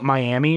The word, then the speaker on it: Miami: yeah it's weird it's it's spelled Miami but they say it miam oh that's whack as